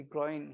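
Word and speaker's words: groyne: this is that's the groin here right and that the term is different rights this is gr o y n is growing but we pronounce it same right it's groins gr oin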